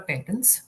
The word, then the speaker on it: patent: And then there are patents. Patent, both are correct pronunciation, US, UK, English.